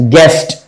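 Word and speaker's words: guest: रहा है, तो गेस्ट, तो जीयू के लिए ग हो गया, और फिर एस्ट, गेस्ट राइट। और यहां क्या है, प्रोलॉग,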